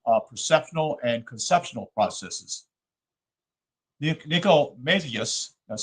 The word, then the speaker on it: Nicomachus: Nicomacheus, that's spelled Nicomachus, and other Greek philosophers considered it as the only one which can be regarded as strictly analogous.